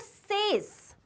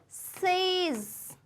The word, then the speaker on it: says: Then this word, it's not says. It's not says. Okay? It is says. Says. Z आता है.